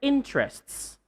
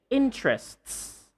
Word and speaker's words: interests: So you say, "What are your interests? What are your interests? What are your interests?" So, not just interest, but you should say interests.